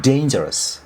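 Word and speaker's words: dangerous: यसलाई अ डेन्जरस भनेको भन्दा पनि डेन्जरस डे भन्ने यसको उच्चारण आउछ। शुद्ध उच्चारण डेमा जान्छ यो। डेन्जरस डेन्जरस डेन्जरस भनेको खतरनाक भैहाल्यो।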